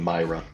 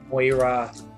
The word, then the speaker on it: Moira: new floral blue pattern, the young Myra. You know, I said it wrong. Moira.